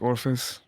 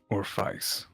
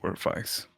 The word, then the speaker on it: Orpheus: My name's not Orphis. Oh, Oh. God. It's Orpheus. Oh. Spelled the exact same way. I didn't even know your last name, so It's actually pronounced Orpheus.